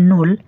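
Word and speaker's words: null: হচ্ছে zero two 12 এটি আপনাদেরকে আমি একবার উচ্চারণ সহকারে ভালোভাবে বলে দিই দেখুন জিরো কে যার মানে বলা হয় নূল ওয়ান কে বলা হয় আইন্স টু কে বলা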